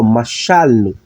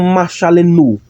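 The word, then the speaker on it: מָשַׁלְנוּ: Aí por que eu não pronuncio como machalenu? Porque se fosse desse jeito, o sílaba tônica seria aqui. Então a pronúncia é machalno. Sílaba tônica aqui, a ênfase tem que ser aqui, ok?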